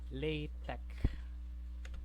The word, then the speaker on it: LaTeX: It is pronounced as LaTeX. Silent ang kanang X is pronounced as CH, tech or silent X.